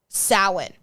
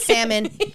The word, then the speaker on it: Samhain: And it derives from a Irish and Scottish tradition named Samhain. Samhain, not salmon.